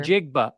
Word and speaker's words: Njigba: In Jigba. It's all pronounced. Jigba. Every letter basically is pronounced. Like you look at it Njigba. and think you're not going to say this letter or that letter.